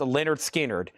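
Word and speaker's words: Lynyrd Skynyrd: Also, Pronounced Leonard Skinnard, EX Condition, $27.99.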